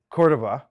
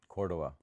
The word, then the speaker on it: Cordova: No, that was perfect. Cordova.